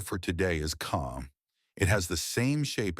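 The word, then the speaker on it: خ: The last letter for today is ca. It has the same shape as jim and ha, but it carries one dot on top. This makes a heavy sound from the back of the throat.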